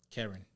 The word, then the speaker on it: Kering: Kering. Kering. Spell it, let me say.